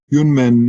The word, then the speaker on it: Yunmen: Yunmen, as some of you know, again, I said, Yunmen is the Chinese way to pronounce his name.